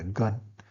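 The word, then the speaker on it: 干: The pronunciation were gun, G-A-N.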